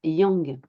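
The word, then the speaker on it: 羊: bélier fonce tête baissée l'idéogramme bélier en chinois se prononce Yang à tel point que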